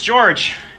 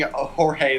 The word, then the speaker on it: George: wanted to ask you is your name pronounced jorge or george oh it's george yeah we were pronounced he's been pronouncing jorge the whole time oh it's either way but everyone calls me george so it's no worries